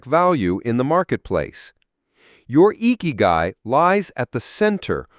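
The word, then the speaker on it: ikigai: Strategy two, exploring eeky. For those considering a larger career shift, the Japanese concept of eeky, pronounced iky, is a powerful framework.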